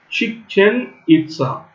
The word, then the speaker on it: Chichen Itza: The ancient city of Chichen Itza, Chichen Itza. So that is how they pronounce.